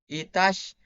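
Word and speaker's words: عطش: We have thirst, which is pronounced Itash.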